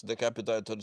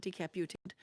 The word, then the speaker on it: decapitated: So it looks like he has decapitated somebody and is proudly wearing the trophy. Decapitated, not decaputated.